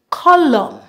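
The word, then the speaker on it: column: have a silent n whenever we have a combination of M and N together in a word normally at the N we remove the n and pronounce the m the m sound for example Autumn colum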